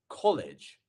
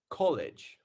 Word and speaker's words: college: number one we have College college so in college where is our stressed vowel sound where is our stressed syllable which one is that it's our first one right it's not College it's